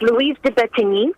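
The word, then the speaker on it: Louise de Bettignies: And getting back to the actual person, I don't know if I'm pronouncing it right, Louise de Bettigny, is that how you pronounce her name? Yes, it's Louise de Bettigny.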